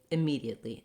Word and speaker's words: immediately: decision immediately i think thinking of that as a lower more schwa like sound tends to help people pronounce it correctly immediately immediately and then for